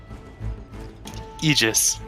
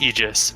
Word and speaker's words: Aegis: kick up as I move the the aegis Aegis it's pronounced Aegis but that's dogs no it's an agent yes